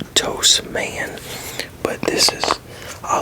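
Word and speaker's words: Tous: Now this is a Spanish company, and how this is pronounced in Spanish is Tos. So, like, depending on what language, because in I think in French it's two, like pronounced like T-O-O, two.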